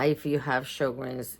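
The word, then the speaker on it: Sjögren's: If you have sugars, it's called I mean it's spelled S J O G R E N S but it's pronounced sugars.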